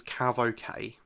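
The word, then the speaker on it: CAVOK: if you ever see the letters c8v okay and that's usually pronounced as CAV okay that means that ceiling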